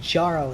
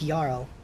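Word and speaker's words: Jarl: that same way uh j-a-r-l isn't jarrow it's yarrow like he has a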